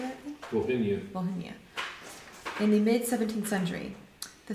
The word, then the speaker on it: Volhynia: Volhynia.